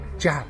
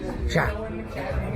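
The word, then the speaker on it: جحا: Joha. Joha. But you said it actually smoother than that before. Joha. Joha. Joha. In the common language, our dialect is ha. Joha. Okay. In Arabic, in literature, Joha. Joha.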